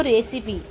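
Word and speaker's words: recipe: अब ई है यहां पे तो इ क्या उच्चारण हुआ हमारा? ई। ई की मात्रा ठीक है तो रेसिपी आर ई सी आई पी यहां भी ई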